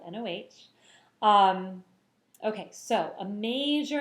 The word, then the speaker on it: Noh: to talk all about no theater remember it's spelled noh um okay so a